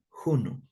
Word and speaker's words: hunu: es juno aquí también la H se pronuncia como la J hunu ya juno juno ese es un